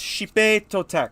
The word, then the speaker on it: Xipe Totec: I I think it's Xipe Totec because it is Aztec and not Spanish, and you got to remember with X, it is not Z, it's Sh.